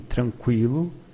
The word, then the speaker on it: tranquilo: In tranquilo, you do pronounce the U after the Q.